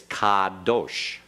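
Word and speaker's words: קָדוֹשׁ: Make sure you get that ah in there very clearly. Don't shorten it, because it sounded like you were making a short half vowel, like kadosh. It's kadosh.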